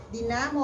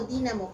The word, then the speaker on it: dinamo: ¿Dinamo o dínamo? ¿Cómo se dice? Dinamo.